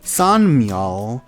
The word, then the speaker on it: San Miao: San Miao is how you pronounce it in Mandarin.